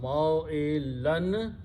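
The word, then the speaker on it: مَوْئِلًا: So these two dhammas will change to two fathas, and then we add an alif there, which we don't pronounce. So this is the word in the Quran, ma'ilan. When you stop, you pronounce ma'ila.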